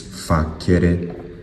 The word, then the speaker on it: facere: If you pronounce it with a hard C, it's facere.